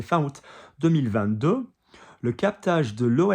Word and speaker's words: août: So some people say out, some people say ou. It depends if it's more like a Picardy French versus, there is some variation on that pronunciation.